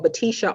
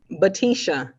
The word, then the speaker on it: Batisha: legal name my legal name is isha well batisha so that's your government license yeah one more time batisha batisha spell that for me b-a-t-i-s-h-a yeah so isha is